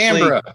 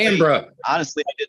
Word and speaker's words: Canberra: How Because- do you pronounce it? It's Because there Brisbane. was. Yeah. Well, yeah. Wow. See, seriously, Canberra. no, honestly, Canberra.